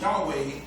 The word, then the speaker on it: Yahweh: power over all things the letters YH wh in the Hebrew language commonly pronounced Yahweh meant I am that